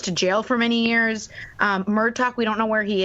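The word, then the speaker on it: Murtagh: It's not like Murtaugh. It's like Murtaugh. It's Murtaugh from Lethal Weapon.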